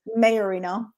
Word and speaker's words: Maiorino: kind of um crazy so how do you pronounce it anyways mayorino okay yeah so it just has a lot